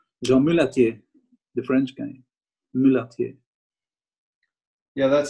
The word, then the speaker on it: Mulatier: Mulatier. Yeah, that sounds familiar. How do you spell it?